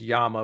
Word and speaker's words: Llama: set directly from them, which I think is actually pronounced Yama, but everybody says Llama.